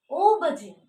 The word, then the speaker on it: aubergine: The first letter is A, but you have to pronounce it aubergine.